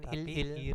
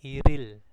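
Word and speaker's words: 일일: terus gitu ya bacanya bacanya bukan ilil tapi iril Nah untuk dua dan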